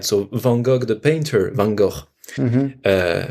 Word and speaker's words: van Gogh: van gogh the painter van gogh uh we pronounced like that marais van gaal no you have to really hurt your throat oh there's only one